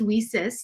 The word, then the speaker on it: WiCyS: We often go by our acronym WICYS, and it's pronounced WESIS, like We Sisters, and that's exactly what we are.